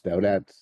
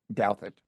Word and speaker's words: Douthat: your friend uh Ross doat um doat and I I continue to insist that it's pronounced do it do it okay um I prefer doubt it I like doubt it